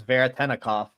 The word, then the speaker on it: Veretennikov: I mean, you said so much that I hardly know how to follow it up, other than to say his name is Veretennikov.